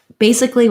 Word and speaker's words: basically: where that a is lots of words ending in aly only say the lee sound rather than the ali sound so you can look